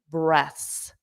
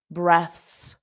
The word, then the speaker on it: breaths: A small number of deep breaths. Notice the pronunciation. breaths. Breaths. Breaths.